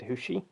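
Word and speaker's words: Hexi: A lot of people were saying it's Hexy, but when they did that Burlap Sack mission and that Chinese guy said Hushi, I was like, what? When they had the subtitles, it literally said Hexy as the subtitles, but he pronounced it as Hushi.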